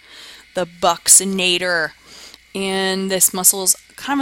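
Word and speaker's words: buccinator: I put the pronunciation up here because everybody pronounces it wrong it's called the bucs inator the bucks inator and this muscle is kind of the hollow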